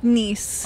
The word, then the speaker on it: Nice: I thought it was called Nice France. Is that a common thing or am I stupid? That's how that it's spelled, but it's Nice. Okay. Yeah. In the French language.